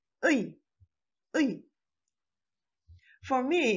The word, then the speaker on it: ㅢ: If you say ui, it made already two syllables, so it's wrong. Please make just one syllable. Say ui.